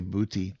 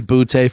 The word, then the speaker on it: Boutte: Bout. Is it Bout? Yeah. Okay. I was going to say Booty. Boutte. I like that better. I like that better. Yeah, he might be Boutte for the rest of the year.